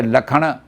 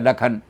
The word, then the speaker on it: लक्षण: जैसे लखन तो लिखेंगे शाह से, लेकिन बोला जाएगा, लिखेंगे तो शाह से लक्षण हो जाएगा वो, लेकिन बोला जाएगा लखन।